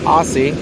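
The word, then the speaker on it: Aase: the gum Pedro Guerrero Don Aussie pronounced an Aussie you go to the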